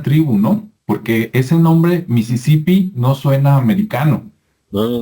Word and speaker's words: Mississippi: se pronuncia ya correctamente en inglés americano es como así como como se escucha en español es lo mismo a Mississippi e Mississippi Pero se